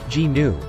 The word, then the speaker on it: gnu: Because of its huge head, shaggy mane pointed beard, and sharp, curving horns, the ungainly Gnu, pronounced G-Nu, or just Gnu, earned the Afrikaans name wildebeest, meaning wild beast.